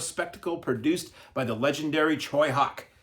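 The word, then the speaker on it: Tsui Hark: an action-packed superhero spectacle produced by the legendary Choy Hawk spelled I used to mispronounce this like so many before we had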